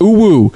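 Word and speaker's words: UwU: Ooh-woo. It's spelled U-W-U.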